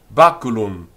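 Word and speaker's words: baculum: that b a c u l u m bakulum bakulum bakulum this stick and in the accusative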